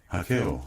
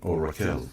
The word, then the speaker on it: Raquel: it's named simply after your wife, Raquel, or Raquel as it's spelled in English.